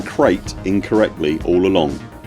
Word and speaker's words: Krait: And by the way, it turns out we have all been pronouncing Krait incorrectly all along. The snake's name should be pronounced to rhyme with kite, not crate.